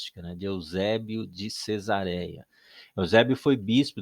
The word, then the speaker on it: Eusébio: o livro do apocalipse não é Ozébio né Eusébio ele transcreve as cartas